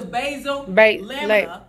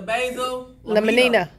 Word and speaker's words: basal lamina: It's the basal lamina, but you call it the basal laminina.